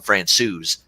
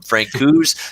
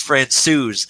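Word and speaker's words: Francouz: France OU's in that apparently he settled on France OU's as the pronunciation has Scott from Frank whose to France so now it's France sues I think we've settled on I think he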